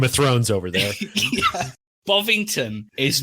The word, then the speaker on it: Bovington: How do you say it, Ivan? I call it Bovington.